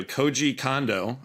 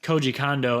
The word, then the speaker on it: Koji Kondo: Koji Kondo, I believe is the pronunciation.